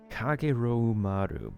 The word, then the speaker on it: Kageroumaru: Kageroumaru. Kageroumaru. That is 6 syllables.